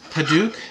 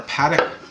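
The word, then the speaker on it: padauk: I found was this hadouk or Paddock I've heard it pronounce both ways I really like these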